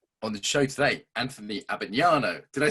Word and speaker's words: Abbagnano: the show today, Anthony Abbagnano.